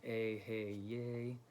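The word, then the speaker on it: Eheieh: The Yay is, it's bold at the end, so you want to kind of put emphasis on that last syllable.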